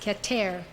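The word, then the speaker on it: Keter: wrote is called katare it spelled ke ter pronounced cat air it means crown as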